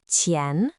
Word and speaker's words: 前: Its pronunciation is qián. The character qián is often used to describe position, both in space and in time.